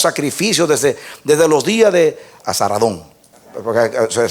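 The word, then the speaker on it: Esar-hadón: a Él ofrecemos sacrificios desde los días de Azaradón, porque se pronuncia así, por Sargón II, rey de Asiria, que nos hizo venir aquí.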